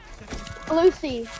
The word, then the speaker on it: Malusi: Malusi. That's how you pronounce it, Malusi.